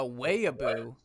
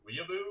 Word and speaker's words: weeaboo: i was like a wayaboo just like a weibo and i was like you mean a weeaboo or a weave i was like bro you don't even know how to pronounce that and then like it